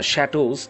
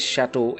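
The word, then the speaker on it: château: and they attack the shadows the pronunciation is chateau actually and it is a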